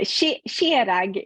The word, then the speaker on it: Kjerag: Yeah, Skjerag is like the Norwegian, how you kind of pronounce it up here.